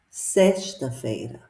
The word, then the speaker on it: sexta-feira: Sexta-feira. So be careful with this X. This X is pronounced like the sh sound in the word shoe in English.